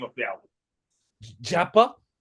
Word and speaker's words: Jhyappa: Japa. Japa.